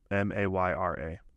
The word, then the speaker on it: Mayra: I don't know how they would pronounce it. Probably Mayra. Is it M-A-Y-A? M-A-Y-R-A.